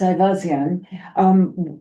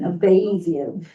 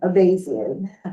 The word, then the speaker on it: Avazian: Well, you used the Armenian pronunciation, which I appreciate. Okay. So in Armenia, it's Ivazian. In this country, it's basically Avazian. Avazian. So the A is long. Exactly. Okay, Avazian.